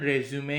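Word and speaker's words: résumé: रेजू में ठीक है इसका शुद्ध उच्चारण रेजू में ही होता है कई लोग इसे रेजू भी पढ़ते हैं ठीक है तो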